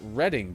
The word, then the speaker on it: Reading: i want to know this place is pronounced reading by the way if this is the